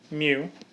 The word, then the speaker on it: mu: the mean mu again m e w is kind of how you say it mu and then I mark